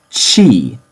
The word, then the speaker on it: ち: kak now we see another glitch in the system this isn't T this is chi chi in Nori does it